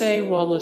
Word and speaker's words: Sexwale: As a political activist, Sexwale, pronounced Sewala, spent many years alongside the late Nelson Mandela as a prisoner of war during apartheid.